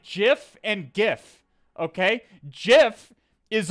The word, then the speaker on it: GIF: And it's only slightly better for the people who pronounce it like GIF. Okay? It's GIF. It's GIF like the peanut butter.